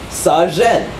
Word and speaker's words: sazhen: How do you say that word? Sazhen. So, there's a sa and there's zhen. And with all of these, they have the ah sound, right?